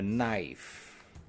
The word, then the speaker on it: knife: un couteau elle lie on ne va pas prononcer le cas a knife une fourchette fourchette une